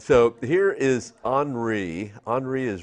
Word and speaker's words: Henri: All right, so here is Henri.